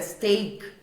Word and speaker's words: steak: Steak, o som do EA em steak tem som de E, né? Steak, E, na verdade.